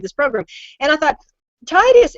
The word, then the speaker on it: Titus: program and I thought Titus it you know it rhymes with phlebitis and I think we